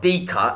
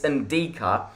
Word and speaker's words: Ndicka: say his name, because it's not DICKA, it's Ndicka.